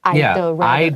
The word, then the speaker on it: I'd: 对他就说我知道是知道 I'd rather 宁愿那记得那个一撇 D 怎么念呢 I would rather I'd rather I would rather 再一次那个 D 缩进去 I'd 那快一点呢 I'd 那两个一起念呢 I'd rather 有的时候不好念同学那个舌头很容易打结在里面可以试试看他就说我宁愿后面加原形我宁愿花我的时间干嘛呢去看看这个 admiring 是因为